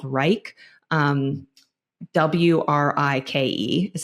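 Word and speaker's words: Wrike: process I use a project management software called Reich um wri I ke is how it's spelled and we built out a full template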